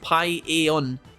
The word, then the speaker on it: paella: It's super well seasoned and delicious, and it's pronounced paella.